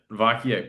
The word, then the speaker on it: Vacquier: Vakier.